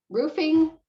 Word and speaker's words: roofing: of two different pronunciations i say roofing so i use that ooh sound okay yeah or a roofer right so i say ooh not everybody does so